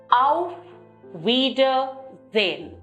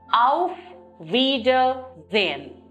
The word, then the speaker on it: Auf Wiedersehen: The formal way of saying bye, goodbye, is Auf Wiedersehen. Auf Wiedersehen. Wieder is again, sehen is to see. That is, to see you again. Look at the syllabic pronunciation, Auf Wiedersehen.